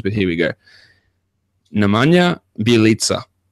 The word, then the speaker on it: Bjelica: Well, I'm pretty happy that Bjelica sounds a lot better than what I said last time. I saw some of the emails that came through, and I believe that's the correct pronunciation. Yep, Bjelica.